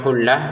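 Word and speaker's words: خلة: Kata khullatun kita baca khullah ini menjadi huruf ha karena berhenti. Wala khullah gitu menjadi huruf A. Kalau digabungkan dia menjadi huruf ta lagi.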